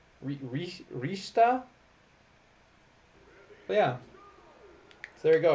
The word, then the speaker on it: Richter: don't know why but they're pronounced differently rather than Simon and Richter I believe it is Simone and rishta Rista yeah so there you